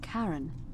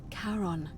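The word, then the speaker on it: Charon: it's just as you described it only your pronunciation is a little off the name you heard wasn't Karen it was c h a r o n as in Caron the experiment of the Dead yeah karon who in exchange for the right coin helps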